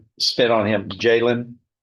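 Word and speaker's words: Jaylin: J J A Y L I N That's the way it phonetically looks, but it's It's Jaylen.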